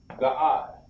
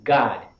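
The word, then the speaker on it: גד: God. Very good. Very good. That's how you say it. That's interesting, isn't it? Right. That's interesting. You say, the way you say Gad in Hebrew is God. God.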